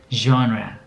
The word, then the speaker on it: genre: ค รั บ อ่ า น ว่ า pronounce ว่ า genre น ะ ค รั บ genre แ ป